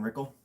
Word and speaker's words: Rickle: My name's Rickle. Yes, it rhymes with pickle, but you can call me Rick, which rhymes with just call me Rick.